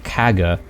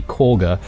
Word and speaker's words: Korga: Another thing that I should apologize about is I kept calling this person Kaga when it's actually Korga, after I was doing the editing of the previous episode and realizing that I was getting the pronunciation incorrectly.